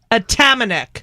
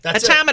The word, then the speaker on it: Atamanuik: Anthony Adam at wait let me say a tamic yeah you got it no way AIC that's the canadianized version okay Anthony AIC is